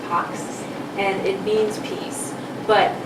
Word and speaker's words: pax: But we're going to speak to PACS, not on the X, and PACS is actually a Latin word that I think is more correctly pronounced PAX, and it means peace.